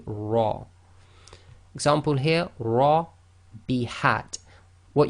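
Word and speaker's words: ر: So when the Ra itself carries a Fatha, it will be pronounced as tafkheem, i.e. heavy, full mouth, i.e. lifting up the posterior of the tongue, making your mouth more full, the lips go slightly round, so this will be Ra.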